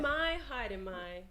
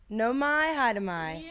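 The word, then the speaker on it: Nau mai, haere mai: Your pronunciation's amazing. Okay, great. I'm going to do it. No mai, haere mai. No mai, haere mai.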